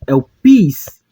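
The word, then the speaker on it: ἐλπίς: Então, pronunciamos como elpis, que significa esperança.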